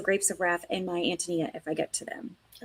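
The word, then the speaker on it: Ántonia: And so, it's the Czech pronunciation. And the Czech pronunciation is Antonyia.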